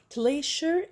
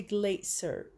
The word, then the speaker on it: glacier: word in two ways glacier and the glacier glacier and the glacier one is a british one is american in american we pronounce